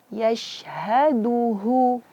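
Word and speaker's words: يَشْهَدُهُ: Di sini da itu makhrajnya ujung lidah berjumpa atau bertemu dengan pangkal gigi seri atas. Jangan mengucapkan da. Biasanya orang kesalahan dalam mengucapkan Al-Quran, da itu makhrajnya dikeluarkan dari ujung lidah berjumpa dengan gusi atas, gusi gigi atas.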